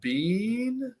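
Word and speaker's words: Biehn: definitely check her out uh you have michael bean is that how you say his name yep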